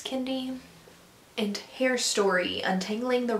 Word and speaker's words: Kendi: Kendi. I say Kennedy half the time when I say his name, but it is Kendi, and I know that.